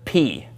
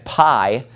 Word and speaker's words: pi: we have the letter P you probably again learned this in math as pi but in greek it's pronounced p okay let me draw